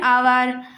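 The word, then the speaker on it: hour: यहाँ पे भले ही यहाँ पे हमने एच को यूज़ किया लेकिन एच साइलेंट है और हमें इसको उच्चारण करने पर ओ बोल रहे हैं, इसलिए यहाँ पर एन लगेगा।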